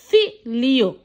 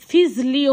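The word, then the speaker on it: figlio: আবার জি এল এ লি, জি এল ই লি, এফ ই জি এল ই অ, ফি লিও, ফি লিও। ঠিক আছে। এখানে ফিজলিও হয় নাই, আপনার ফি লিও হয়েছে।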